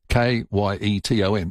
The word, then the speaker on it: Kyneton: Kyton, like the cakes.